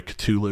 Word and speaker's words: Cthulhu: the gate underwater for cthulhu and being able to open it up i'm sorry tulu because that's technically how yeah it's nobody pronounces it right though so it's fine